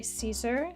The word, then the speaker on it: Caesar: I don't I mean it is certainly not incorrect to say Caesar in any way. That is the like angllified version. Um, I guess I mean Latin is a dead language, but I guess if you follow its phonetic direction, it will lead you to Kaisar.